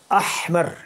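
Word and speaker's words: أحمر: کو پیش بولتے ہیں۔ احمر، یہ تلفظ آپ جب بھی کیجئے تو صحیح طریقے سے کیجئے، اس کو آپ اردو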